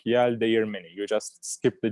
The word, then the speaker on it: Yeldeğirmeni: It's a G that we don't pronounce. So when you look at the words, you just read it like Yeldeğirmeni.